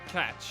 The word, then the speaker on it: Koch: There's also some holdouts still, one or two for Koch Media. And, Got it. If you're still frustrated, we're pronouncing Koch wrong. Catch.